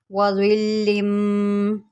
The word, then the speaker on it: ظِلٍّ: کے ساتھ سمجھاتی ہوں۔ وَظِلٍّ وَظِلٍّ ظَا لام زیر ظل۔ اب لام کے نیچے دو زیر ہے، اس کو ہم نے میم کے ساتھ ملانا ہے۔ وَظِلٍّ لام میم دو زیر لم۔ وَظِلٍّ ممدود وَظِلٍّ ممدود۔ میں